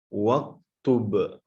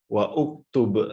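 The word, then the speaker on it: واكتب: Nah, kalau ditulis tanpa hamzah qata', ya, berarti kalau misalkan ada huruf di depannya, contohnya wawuh, dan tulislah, maka kita membacanya adalah waktub, ya, bukan wa uktub, salah.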